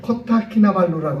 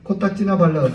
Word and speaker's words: 코타키나발루: 코타키나발루라고 하는 곳. 예. 코딱키나발루 발음 잘 안 돼갖고 어떤 분들은 코딱 발루 이렇게 얘기 코딱키나 발루가 그게 휴양지예요.